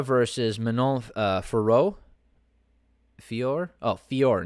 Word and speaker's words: Fiorot: manola ferro fior oh fiore not for roe all right so i mispronounced her name last time because they mispronounce it they pronounce it uh firo last time or furo it's pronounced fior right gotta love french names